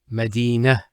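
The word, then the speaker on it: مدينة: I actually pronounced the ta marbuta as a ha. Medina, Khadija.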